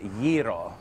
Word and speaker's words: gyro: You've got to be able to roll your R, so it's gyro.